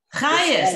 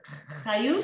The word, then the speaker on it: חיות: Chayes. Oh, חיות בעברית, אבל ביידיש חייס. It's the same as Chayes, yeah? Chayes. כן. You don't change it a little bit? The pronunciation? Chayus? No, you say chayes.